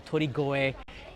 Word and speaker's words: Torikoe: This is the Torikoe Shrine Festival, Torigoe, if you pronounce it differently.